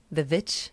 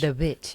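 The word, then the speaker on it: The VVitch: The Vitch. No. Um The Vitch. The Wii. It's like the WW like that's how it's spelled out the movie. Um The Vitch. The Witch.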